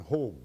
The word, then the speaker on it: Hogg: hog I should say Garden hog he pronounces his name hog that um the repeat